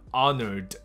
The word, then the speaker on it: honored: 你听到了吗？你如果还是听不出来的话，那就表示你不知道刚刚那个地方的重点在哪里。就是我们在讲英文的时候，很没有去注意的这些小细节，但是外国人肯定会听得到的，就是什么呢？I'm honored to be here。那个 honor 的名词是荣耀、光荣，没问题，honor。可是你觉得你可以很光荣在这边演讲的话，这个 honor 是需要加个